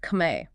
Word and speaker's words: Khmer: Car on the other hand is the native word, the term used by the people themselves pronounced kame.